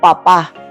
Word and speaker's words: papá: Por ejemplo, papá. Aquí la estamos diciendo la sílaba tónica en la última y quiere decir progenitor.